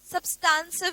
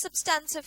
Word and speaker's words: substantive: ये कौन से वाले, nature, timing and extent of substantive सब्सटेंसिव भी बोल सकते हो, सब्सटेंटिव भी बोलते हैं, ठीक है, आपकी मर्जी है। इसको प्रोनाउंस सब्सटेंसिव किया जाता है, सब्सटेंसिव प्रोसीजर, ठीक है।